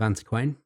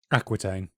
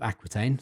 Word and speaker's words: Aquitaine: In this case, she is named Queen Eleanor, or Eleanor of Antiquain, I believe it's pronounced. Aquitaine. Eleanor of Aquitaine, sorry.